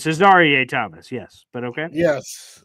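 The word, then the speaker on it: Azareye'h: I really like the draft pick of Azerier. Definitely just butchered that. Thomas. You did? It's Cesar Thomas.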